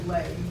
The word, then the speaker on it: Bley: Now, in your bibliography, you'll find a book by a fellow named, I believe it's pronounced Bley, B-L-E-Y, which is a very, very available volume for teachers.